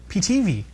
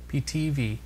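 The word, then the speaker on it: Pitivi: in sound and video according to the rules third last syllable should get the stress so tv i guess you're right ptv tv p-i-t-i-v-i video editor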